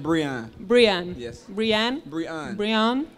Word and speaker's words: Brion: And so we decided to just translate it into French and called you Brion Rouge. Rouge. No. Brion Rouge. And that was what Christian just wanted to tell you. No, it's pronounced Brian.